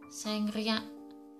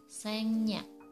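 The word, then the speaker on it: 생략: Untuk contoh yang pertama adalah sengriak, harusnya sengriak, tapi yang benar pengucapannya adalah sengnya. Sengnya.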